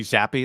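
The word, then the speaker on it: Zappe: hell of a name it's definitely zappy that's how you pronounce it yeah i've been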